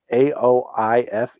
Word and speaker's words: Aoife: How would you pronounce her real name? Isn't it Aoife?